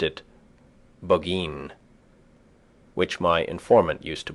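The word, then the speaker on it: Burgoyne: moose there nutting had a famous foxhound named bergoin he pronounced it bin which my informant used to borrow in the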